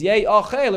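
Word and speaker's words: יֵאָכֵל: And Rab Shimon says, Yesh Eim Mikra, that you have to go according to the way it's pronounced, which is Yei Ochel, it refers to the actual korban pesach.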